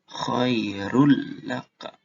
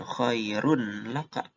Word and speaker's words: khairul laka: Kalau udah punya tasjid, berarti bacanya khairul laka. Jadi bukan khairun laka.